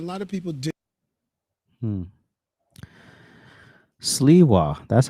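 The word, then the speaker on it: Sliwa: uh people understand this moment coming back to you and a combination a lot of people did Siwa that's how you say his name the Republican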